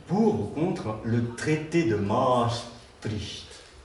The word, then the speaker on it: Maastricht: 1992, en France, on vote pour ou contre le traité de Maastricht. Il paraît que ça se prononce Maastricht, mais les gens de droite appelaient ça Maastricht, parce que c'est strict, disons.